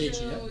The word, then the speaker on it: Gaethje: How do you pronounce that? Gaethje, yeah.